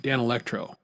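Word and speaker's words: Danelectro: One was I won't say the name right. Dan Electro. There we go. Now I'm saying it right. Dan Electro.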